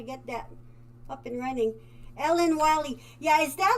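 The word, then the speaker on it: Ellen Wille: is from there and their pronunciation is not quite like that so ellen wiley okay i'll be comfortable saying that now thanks deb see oh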